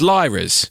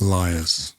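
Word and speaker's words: Lyre's: i always when i've seen it i've always pronounced it as lyra's right actually it makes a lot more sense yes i've watched a couple of videos today and it's pronounced liars so ah well that that makes a lot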